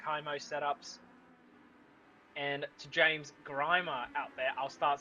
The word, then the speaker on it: Grimer: And to James Grimer out there, I'll start saying your name right. I know it's not Grimmer, but it is Grimer.